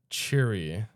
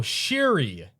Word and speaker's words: Shuri: Cherie. Are we sure it's That's how you say it? Oh, Shuri.